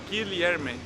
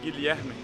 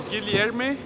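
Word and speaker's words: Guilherme: a good tip a good tip to pronounce my name properly you can say gi li herme so guillerme then say it fast like ilyami the right the worst form is so guilierme also works or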